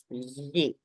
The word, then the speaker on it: gli: So as long as you don't say gli, as long as you don't pronounce the g, you cannot hear the g.